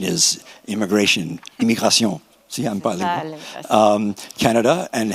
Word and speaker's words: Canada: So after some thought, we decided that we would locate it in Canada. I'll say it, the English pronunciation Canada and the French pronunciation Canada.